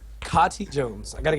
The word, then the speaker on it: Kati: he last heard it I know I've heard him say cotti around me and I've heard him say Katie when talking to someone else who's saying Katie uh you can pronounce it pretty much however you want it's you know it's a fictional character wow but if you say in front of me I'll probably correct you kotti Jones I got got